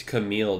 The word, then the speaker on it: Camille: It's Camille, dude.